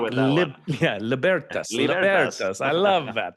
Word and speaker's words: Libertas: He said, "Well, Latin is a dead language, so there's kind of the Germanic English root where you would say libertas, Yeah. or there's like the romantic, Italian libertas."